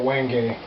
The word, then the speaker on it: wenge: Wenge. Wenge is how you pronounce that.